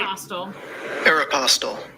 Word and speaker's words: Aeropostale: How to pronounce Aeropostale? Let's see. Oh, you're right. Aeropostale.